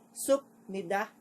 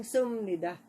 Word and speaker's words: 습니다: Therefore, sa halip po na ang basahin po ito as supnida, magiging sumnida.